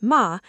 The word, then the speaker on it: ma: Ma, pronounced ma, is the Japanese philosophy of negative space, or the intentional pause between actions.